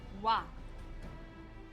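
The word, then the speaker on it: oie: Provided Google Translate is not lying to me, it's pronounced. Wait, let me hear it again. Wa? Yes, wa. Okay? And it's spelled O-I-E. Wa.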